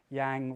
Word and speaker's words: yang: Yang rhymes with fang.